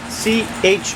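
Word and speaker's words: Chouriço: Chourico. Oh, Chourico. Let's that again. Chourico. It looks like Chourico, but it's pronounced chourico. Try it.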